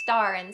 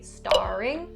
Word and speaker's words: star in: Since star ends with the sound and in begins with the I sound, you can actually connect them and say starin, starin. Now be careful and don't say starring, because then you're saying something different.